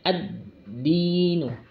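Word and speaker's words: الدين: Nah, pada alif lam ini alnya tidak dibaca, tidak dianggap. Alif lamnya tidak dianggap, maka langsung membacanya pada huruf setelahnya, yaitu huruf dal. Intinya di sini biasanya diberikan tanda tasydid, tanda tasydidnya. Ada tanda tasydid itu. Nah, yang kecil itu tanda tasydid, maka langsung ditekan atau dimasukkan pada huruf setelahnya, yaitu membacanya ad-dinu.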